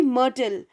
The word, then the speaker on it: myrtle: Pronunciation will be myrtle. We write it like this, M-Y-R-T-L-E, but the pronunciation will be of only M-R-T-L, myrtle.